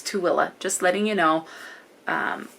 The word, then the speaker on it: Tooele: may have seen it a lot of people mispronounce it as Tule it's t-o-o-e-l-e it's too Willa so not Tuli it's too Willa just letting you know